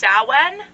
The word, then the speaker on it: Samhain: okay we halloween all right halloween is called samhain it is spelled s-a-m-h-a-i-n but is pronounced sowen but it's also called all hallows eve or